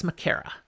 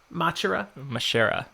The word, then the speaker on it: Machera: All right, so this man who has now welcomed them in, Elias Makera. He has... Makera? That's how I say it. How do you say it? With more of a Machera? Mashera.